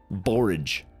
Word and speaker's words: borage: called it's called borage it's spelled like forage with a bee it's also known as